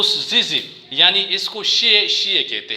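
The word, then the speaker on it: 谢谢: वो उसको जल्दी जल्दी बोल लेते हैं तो शिशी बोलते हैं।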